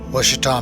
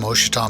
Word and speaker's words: Ouachita: Well, not real young, but I was around 15 years old in the Ouachita Mountains. I think you might actually pronounce them Ouachita Mountains in Oklahoma, on the Oklahoma-Arkansas border.